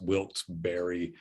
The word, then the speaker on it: Wilkes-Barre: in wilkes-barre pa uh i think it's e s b w-i-l-k-e-s-b-a r r e pronounced wilt berry pennsylvania and he does